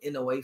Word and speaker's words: Inoue: Inoue. Oh yeah, Naoya. Is how you pronounce his first name?